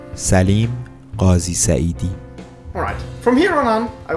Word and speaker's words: Salim Ghazi Saeedi: So, here is how you pronounce the name correctly. Salim Ghazi Saeedi.